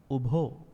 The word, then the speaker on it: ubho: See, bhikkhave ubho. Not ubo, not bhikkhave. Bhikkhave ubho ante anupagam majjhima, not